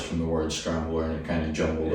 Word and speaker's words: Scramble: Scramble. Scramble. Like the egg.